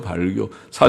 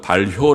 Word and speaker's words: 발효: 지금 쓰지 않는 말이죠 발 교사 전에도 발겨 그러는 북어 산 찾아보면 그 발음을 그리지 않고 발 효 라고 하라고 반론은 잘 알죠 할